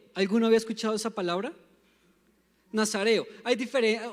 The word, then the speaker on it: nazareo: Y dice, porque el niño será nazareo. ¿Alguno había escuchado esa palabra? Nazareo. Uno tiende a confundirlo entre nazareno y nazareo, sin la N.